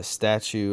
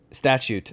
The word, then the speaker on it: statute: Doctrine and the uh statue of limitations sorry if I'm uh mispronouncing that one Statue uh statute of of limitations thank you so uh